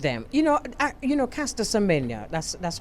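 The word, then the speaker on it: Caster Semenya: i agree with them you know you know caster symmetra that's that's how we pronounce her name she she's an athlete a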